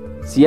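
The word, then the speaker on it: 四: 3 el número 4 en china el número 4 se pronuncia si suena similar a la palabra muerte así que cualquier cosa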